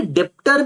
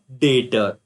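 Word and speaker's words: debtor: तो सर ये डेप्टर नहीं है क्या? डेप्टर बेटा नहीं, जो बच्चा इसे डेप्टर बोल रहा है ये गलत है, यहां पे ऐसे समझो बी साइलेंट है। क्या पढ़ोगे इसे? डेटर।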